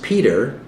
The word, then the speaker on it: Petre: Related to the Sturtons, Norfolks, and Arundels, the Petre family, pronounced Peter, was highly esteemed by the Society of Jesus.